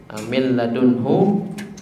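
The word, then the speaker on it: مِن لَّدُنْهُ: ra ada di kata min ladunhu. Min ladunhu katanya adalah min ladunhu, tulisannya min dan ladunhu. Cara bacanya seakan-akan huruf nunnya nggak ada, jadi dia ada tapi dilupakan gitu. Keberadaannya dianggap tidak ada, wujuduhu ta'adamihi.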